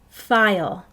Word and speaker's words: file: File. That silent E is telling the I to say its name.